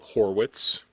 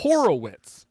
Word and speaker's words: Horwitz: How do you pronounce this last name? H O R Wii TZ. Horwit. Horwitz. Horwitz. Is Boo is Why does Boo call him Horowitz?